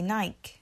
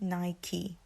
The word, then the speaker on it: Nike: So in the past, and a lot of people from London, from England, say Nike. We pronounce it as Nike. But it's actually Nike.